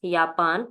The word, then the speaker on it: Japan: J gives the sound of Y, so this is Japan in German, and in English is Japan.